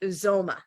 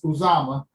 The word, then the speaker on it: Uzoma: Uzoma. You close, Elizabeth. It's Uzama.